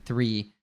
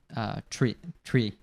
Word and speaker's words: three: So it'd be like, instead of saying three, they'd say tree. It's hard for me even to say it like that, tree. Like like a tree that you have outside, right? They might even say just like free, right? Free. Like, Yeah, some sounds people like might say free.